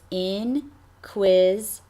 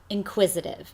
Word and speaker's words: inquisitive: Yep, it's 4 syllables. It's inquisitive. inquisitive.